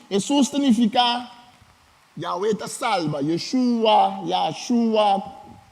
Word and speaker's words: Yeshua: Yeshua, foi a maneira de pronunciar.